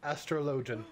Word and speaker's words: Astrologian: leveling up this class astrologian astrology astrologian that's that's how they pronounce it I was thinking maybe